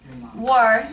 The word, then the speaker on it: war: E se forem perceber, tem R também, war, mas normalmente não se diz war. Não, o R é muito leve, mas muito leve, principalmente quando a gente está nas terminações das palavras.